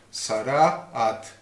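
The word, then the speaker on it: צרעת: particular de letra que en hebreo llama sara a sara a acento en la primera a pensar a at entonces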